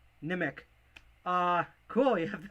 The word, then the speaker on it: Nimiq: grin Raven coin and I think it's pronounced nimic I call it nimiq but nimic uh cool you have